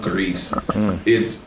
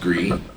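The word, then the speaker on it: Gris: They tell really good stories, and one of them I definitely want to play is one called Grease. I think it's pronounced Gree, but it's a beautiful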